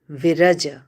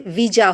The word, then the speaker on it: Viraja: with mon monastic vows they do not have even the education to pronounce Vira correctly they say viah home the abot go through